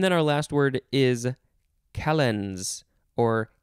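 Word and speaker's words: calends: with dates and then our last word is calenz or k-lens c-a-l-e-n-d-s you could also spell it with a k this is a noun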